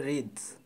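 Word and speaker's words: wreaths: The place রিডস, এই যে WREETHS উচ্চারণটা হবে রিডস, তা রিড মানে হচ্ছে পুষ্পমাল্য।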